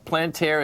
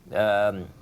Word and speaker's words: Palantir: You got Palantir is down $1.20. Palantir. How do you pronounce it again?